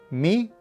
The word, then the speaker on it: mi: The next item of note are these 2 words, mi and me. Mi is pronounced like the English me and means my.